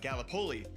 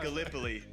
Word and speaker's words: Gallipoli: right because being from Iowa I said uh Galipoli and it's it is pronounced Gallipoli.